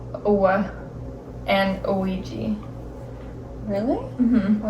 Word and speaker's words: Ouija: Yeah, but an this is Ouija. pronounced Owa.